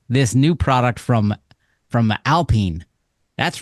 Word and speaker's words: Alpine: new product from from Alpine that's right Alpine Alpine Alpine Alpine it's it's spelled Alpine but it's French so it's Alpine I only know them